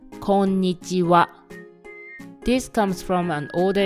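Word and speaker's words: こんにちは: Another example is the greeting "konnichiwa." Even though it is written as "konnichiha," it is pronounced "konnichiwa."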